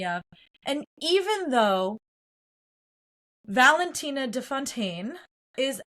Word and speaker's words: de Fontaine: He says, Miss Fontaine, and she goes, no, excuse me, it's Miss de Fontaine.